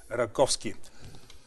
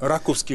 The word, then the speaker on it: Раковски: Раковски ли? Да, трябва да бъде. Би трябвало ударението да се премине, защото неговия род води началото от населения пункт, селото Раково, което е между днешния Котел и Сливен.